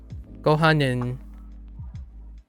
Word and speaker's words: ご飯: Gohanin? Yeah. Gotta maximize. And then sushi. Which one is rice? Gohanin? ご飯 Oh, gohan. Oh, it's really light. Gohan. ご飯 Gohan. Okay. So, not necessarily a separate syllable.